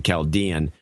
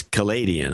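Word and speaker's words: Chaldean: and by the way I was mispronouncing caldian as Cadian I think in the last show and somebody called me out on it uh anyway and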